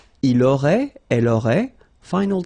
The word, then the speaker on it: auraient: Ils auraient, so liaison here. Elles auraient. And then look, if you've got A-I-E-N-T, then phonetically it goes like aurait.